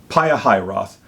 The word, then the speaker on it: Pihahiroth: in front of, and I wrote down the pronunciation because I struggle with it. It's Pihahiroth. So encamp in front of Pihahiroth, between Migdol and the sea of Baal-zephon.